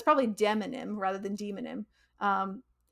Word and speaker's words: demonym: probably demonym rather than demonym um demo like demographic exactly yeah I assume